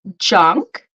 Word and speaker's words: junk: same sound yeah um so we have junk you repeat J oh you could keep the strong J like J junk sorry j yep like in yeah and then chunk so it's like mucha cha cha chunk CH cha chunk yeah it's the same CH good so junk chunk junk chunk yes junk Chun